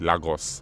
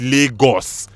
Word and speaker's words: Lagos: my reaction every time americans pronounce lagos as lagos empty swimming pool and legos it's lagos lagos shower so we're